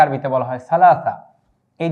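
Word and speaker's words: ثلاثة: তারপরে 3 কে আরবিতে কি বলা হয়, 3 কে আরবিতে বলা হয় সালাসা। এই যে আমরা এখানটায় উচ্চারণ লিখে দিয়েছি সালাসাতুন 3।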